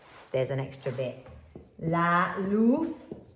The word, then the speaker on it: luz: La luz. Remember this Z is a TH.